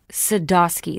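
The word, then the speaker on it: Sadoski: spelled phonetically how's it how's it pronounced sadosky the way it's spelled there's no w they make up something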